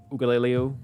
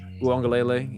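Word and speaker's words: Uiagalelei: You know, as we know, DJ Ugaleleo, I forgot how do you say his name? Uangalele.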